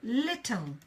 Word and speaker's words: little: be interesting little little so little little is pronounced this way and of course again we have the schwa sound little woo little little yeah that sound that schwa sound is always everywhere now we have consciousness